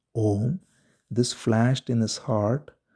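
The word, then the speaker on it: ॐ: and this sound is Om. It is made of three parts, A, U, Im, Om.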